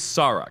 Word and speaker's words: Sarek: Well, so if you watch Journey to Babel, where Sarek was introduced, Spock says Sarek, the Tellarite ambassador says, "How do you vote Sarek a Vulcan?" So it is Sarek.